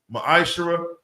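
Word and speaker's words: מעשר: Means tenth in the Hebrew. It's pronounced ma'ashara.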